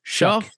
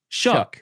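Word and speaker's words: Shough: I wasn't listen I wasn't listening to because like how do you pronounce the quarterback for the Saints last name? Shuck. Shuck.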